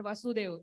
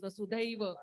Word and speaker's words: Vasudhaiva: It's not Vasudev, it is Vasudhaiva.